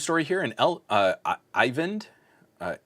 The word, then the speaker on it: Ivend: here in El uh ivend uh E N D I think I've been saying Elven for the last couple times I've seen your name pop up and I've been incorrect so I apologize for